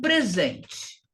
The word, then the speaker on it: present: O E seria mais forte. Present, present, porque isso aqui é um substantivo de 2 sílabas.